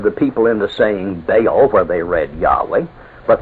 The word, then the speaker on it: Baal: was the hebrew word baal in english spelt b-a-a-l and usually pronounced baal it means master or lord you